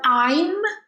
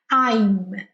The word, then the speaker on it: I'm: Vou te lembrar, já pode estar esquecendo, quando for pronunciar o I'm, encosta os lábios, tá? I'm.